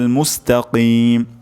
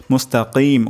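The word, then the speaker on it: مستقيم: গুরুত্বপূর্ণ শব্দ হলো তারপর মুস্তাকিম কফ উচ্চারণ করা এখানে ক্ষেত্রে আমাদের কাফ হয়ে যেতে পারে তো আমি আরেকবার তেলাওয়াত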